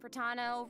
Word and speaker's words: Pratano: Hey everyone, I'm Pratano, rhymes with Capitano, the voice of Child's Master, Skirk.